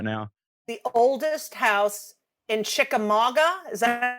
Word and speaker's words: Chickamauga: The oldest house in Chickamauga. Is that how you say it? Chickamauga, yeah.